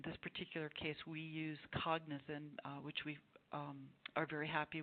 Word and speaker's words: Cognizin: Okay, and I just want, because this is audio, I want people to know that Cognizin is an ingredient, and it's spelled Cognitin, and that is the specific ingredient that you are using in your studies.